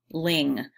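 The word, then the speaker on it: Lyng: And so they buy a house called Ling. The spelling of the house's name, L-Y-N-G, could also be phonetically pronounced lying, which is kind of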